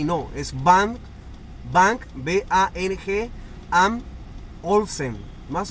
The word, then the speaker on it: Bang & Olufsen: Quería comentarles sobre eso porque les había dicho antes que era Bose y no, es Bang, Bang, B-A-N-G, Am Olufsen. Más o menos esa es la pronunciación.